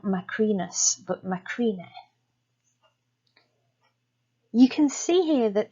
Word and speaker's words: Macrine: Well, it was actually common for names ending in us, when transcribed in Punic, to be written without the final S. So this would be pronounced something like macrine.